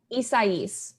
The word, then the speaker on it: Isaias: was like, wait a minute, maybe I am pronouncing it wrong. So how do you say it? Isaias.